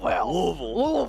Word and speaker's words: Louisville: were telling hexter that the way you have to say it is as if you have four hot dogs in your mouth and you said Louis Louisville Louisville yep yes so what